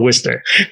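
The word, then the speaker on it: Worcester: Worchester s yeah so we don't pronounce R so it's called Worster okay okay yeah so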